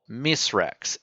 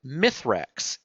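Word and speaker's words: Misraaks: names but not really he is called mrex m i s r a a k s that is his true name but for whatever reason we humans Guardians whatever English-speaking beings uh have always pronounced it mythrax m i t h r a X um is that literally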